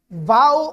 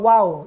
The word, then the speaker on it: ו: He ngayon naman nasa vow or wow. Dalawa kasi yung pronunciation.